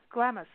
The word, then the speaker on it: Glamis: and up in Southern California deserts, out by Glamis.